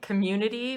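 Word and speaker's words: Comirnaty: It's like community, but like you're chewing on a golf ball. Community is how you say it.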